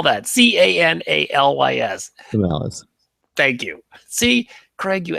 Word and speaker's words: Canalys: an analyst at the tech research firm called Canalysis. Canalis? Let's spell that. Canalys. Canalis.